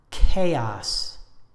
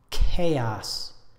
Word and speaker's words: chaos: five commonly mispronounced words the noun chaos chaos the adjective chaotic or chaotic three syllables with